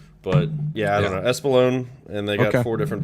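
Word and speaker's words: Espolón: not not explain that how do you uh pronounce that tequila espalone espalone okay I've always wondered that's like my favorite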